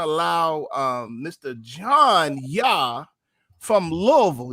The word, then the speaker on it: Louisville: You gotta say it like that, Louisville. You don't say Louisville. You don't say Louisville because I've been saying Louisville all my life. You go up there saying Louisville, you're gonna sound like a lame.